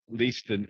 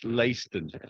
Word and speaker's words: Leiston: By saying not Leiston, it's Leiston. To get my pronunciation.